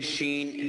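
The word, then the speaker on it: شين: এটা হচ্ছে শিন। শিন। শিন। সিন। হ্যাঁ, সিন আর শিন আলাদা। একটা হচ্ছে সিন এস এর মতো, আর একটা হচ্ছে শিন। SH। এর পাশে এইচ দিলে যেরকম হবে, উচ্চারণটা সেরকম। জি।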